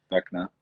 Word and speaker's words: Vecna: Vecna.